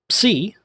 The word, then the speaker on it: psi: Psi looks like a little trident, and it's pronounced psi, a PS sound, like the You've heard the bugle player play taps. Ps, ps. That's the type of sound it would make.